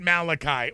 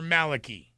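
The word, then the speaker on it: Malachy: this comes out of st. Malachi or Maliki depending upon how you want to pronounce it legitimate concerns now because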